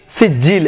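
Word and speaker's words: سجيل: এই জন্য মিং সিজিল সিজিল এখানে জিম জিমের উপর আবার তাসদিদ এই জন্য সিজিল বর্গীয় জ ডবল নেশা হয়েছে সিজিল।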